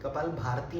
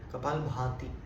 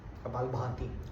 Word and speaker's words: कपालभाति: कपाल भारती नहीं है, हाँ, कपालभाति, भा चंद्र बिंदु है, भा, कपालभाति, उच्चारण का ध्यान रखिएगा।